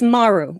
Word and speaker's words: Maru: is so funny because everybody pronounces that wrong if you go back and you watch Star Trek over - it's Maru because Japanese words always have the emphasis on the first syllable so it's Kobayashi Maru